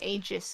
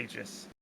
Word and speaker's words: Aegis: But so Valve have settled on Aegis, Yeah. but that's the wrong way of saying it. It's like Aegis is apparently the actual correct way, I think, of pronouncing it.